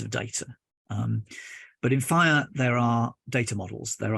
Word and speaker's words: FHIR: too much other things pronounce five of course but spelled like that so you can Google it pretty easily which is nice um yeah and even simpler so what is fire well Jason set of